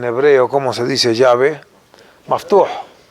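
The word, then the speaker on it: מפתח: Maftuh. Meftah. Mafteah.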